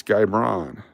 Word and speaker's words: Guy Braun: Yeah, it's like Boy George, but it's Guy Braun.